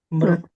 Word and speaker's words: मृत्यु: Maham samudharta तेषामहं समुद्धर्ता mrityu samsara sagara मृत्युसंसारसागरात् mrityu samsara sagara.